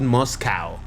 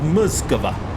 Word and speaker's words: Moscow: we're in Moscow Moscow I hate how in English you pronounce it Moscow like it's a cow rush through the Russian you pronounce it muscular all right here we